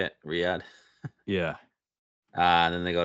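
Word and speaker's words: Riyadh: RI y is that how you say it Riad yeah uh then they go to adelay yep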